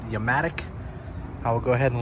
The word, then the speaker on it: Yamatic: A company reached out to me on Instagram called Yamatic, spelled with a Y. Almost like Yamaha, but Yamatic.